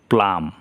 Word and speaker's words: plumb: এইখানে আছে এর পরে বি আছে, তাহলে PLUMB, তাই এখানে প্লাম উচ্চারণ হলো প্লাম, কিন্তু বি উচ্চারণ হলো না, অর্থ হলো উলন্দরি।